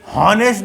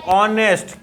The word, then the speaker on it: honest: इसको बोलते बच्चों, इसको हॉनेस्ट नहीं बोलते हैं, हॉनेस्ट नहीं आप सोचो इसको हॉनेस्ट नहीं, ये होता है ऑनेस्ट। क्या होता है? ऑनेस्ट होता है। आ वाला साउंड आ रहा है।